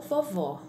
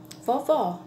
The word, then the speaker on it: vovó: aqui só pensa em na palavra vovô ou vovó para a gente poder é escrever essa palavra a gente precisa saber a pronúncia a gente precisa conhecer o assento para